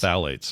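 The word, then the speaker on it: phthalates: go Dr Calhoun says Google says the pH is silent so it's just basically thales just phalates okay yeah well then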